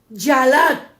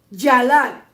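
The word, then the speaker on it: ילד: Cuando se busca el sinónimo de la palabra moladet, el sinónimo es yalat, Y-A-L-A, con acento en la A y T, yalat, que en el idioma hebreo quiere decir alumbramiento, estar de parto, dar a luz una nación.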